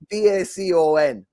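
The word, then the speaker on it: Bekan: the back of it b-e-k-a-n bacon is b-a-c-o-n but it that's how it's pronounced it's bacon that bring them up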